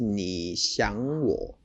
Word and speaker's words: 你想我: Okay, so and the pronunciation was 你想我.